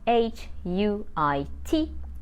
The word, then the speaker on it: huit: Number 8 is spelled H-U-I-T, but we don't pronounce the H as it is a silent letter in French, but we pronounce the T and we say huit.